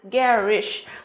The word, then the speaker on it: garish: Và từ cuối cùng chúng ta có chính là từ garish. Ba từ này của chúng ta, B, C và D của chúng ta đều phát âm là air.